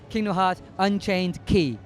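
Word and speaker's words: Kingdom Hearts Unchained χ: do with Kingdom Hearts the new mobile game Kingdom Hearts Unchained key is coming out North America remember how the pronunciation of that because that's important it's pronounced Kingdom Hearts Unchained key and it looks really cool so I hope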